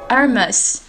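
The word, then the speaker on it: Hermès: Так как фирма французская, то H глухая, и мы будем произносить это слово как Hermes.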